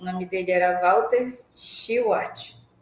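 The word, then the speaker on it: Shewhart: nome dele era Walter schart que é assim que se pronuncia eh mas ela já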